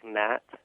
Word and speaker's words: gnat: Also, so I guess the same kind of process applies to words like gnat, where there's a G in front of the N, but you don't pronounce that.